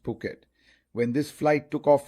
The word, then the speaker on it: Phuket: It's written as Phuket but pronounced Phuket.